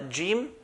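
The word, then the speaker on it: جيم: And these three letters are jim, sheen, and ya. So jim, al-jannah, like the J in English.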